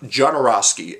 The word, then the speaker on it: Jodorowsky: holy mountain which is directed by alejandro um jodorowsky that's how you say his name yes um